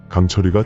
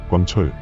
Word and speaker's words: 강철이: 썩어 들어가니 주의하여야 한다 또 강철 광철 깡철이 등등 발음은 다양하나 표준 국어 대사전의 표제어로 실린 것은 강철이이며 특정 지역이 아니라 전국에서 전승이